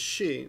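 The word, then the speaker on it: 死: horses there you go that kanji there is she which means she which means death and this is also this is yon whoops which is also pronounced as she if you if I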